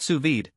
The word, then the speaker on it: sous vide: Pronounced sous vide, this technique involves cooking food in a water